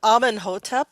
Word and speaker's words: Amenhotep: Mary Magdalene, Shamus of the Asasani, Mother Gaia, Amenhotep. Did I say that right, Wendy or Susan? Sorry, Amenhotep. How do you say that? Amenhotep the third.